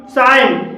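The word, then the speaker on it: sign: भी जी साइलेंट है साइन साइन में जी के बाद एन है और यहां पर भी जी साइलेंट है मलाइन मलाइन में जी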